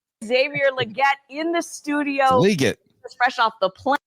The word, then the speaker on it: Legette: Yeah, and it is legit. They asked him in his press conference how to pronounce it, and he said that the Roger Goodell said it right. It's legit. You're here at the stadium for the first time.